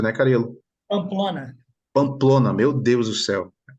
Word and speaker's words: Pamplona: também é é o treinador aí da Anine pampola pampola né a pronúncia né carelo Pamplona Pamplona meu Deus do céu depois ela vai